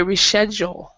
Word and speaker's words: reschedule: had great pronunciation andrei in british english and they will say reschedule so this ch is not a k sound but in in american english it's a c sound so that's one difference in pronunciation okay so all right